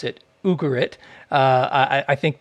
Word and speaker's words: Ugarit: about the site of ugarit uh although some people pronounce it ugarit uh i i think most most of the ugaritic scholars like the u sound at the beginning from what i from